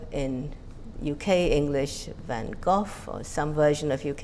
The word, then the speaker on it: van Gogh: In English, American English, I understand it's van Gogh. In UK English van Gogh or some version of UK English. The Dutch original is of course van Gogh, both velar fricatives.